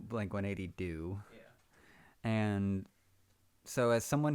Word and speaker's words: Blink-180 Deux: how's it pronounced? Blink-180 Deux. Blink-180 Do.